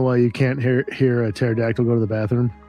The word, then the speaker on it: pterodactyl: Do you know why you can't hear a pterodactyl go to the bathroom? Because the P is silent.